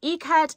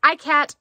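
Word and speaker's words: ikat: a tribal type pattern it is called e-cut it looks like icat to me but it's not pronounced that way it's trimmed in the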